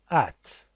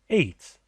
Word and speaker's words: ate: At. It is pronounced at or ate.